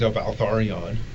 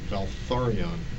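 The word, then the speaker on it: Valtharion: Uh Elliot Roger was named Valarion. Valarion. Yes. How do you spell that?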